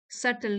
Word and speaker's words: subtle: करेंगे इसका टाइटल है सटल सटल यहां बी साइलेंट है सटल आर्ट ऑफ साइलेंस